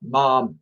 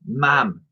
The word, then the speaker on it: ma'am: I'd done it all mom and not mom it rhymes with ham or Jam I done it all ma'am ma'am not mom he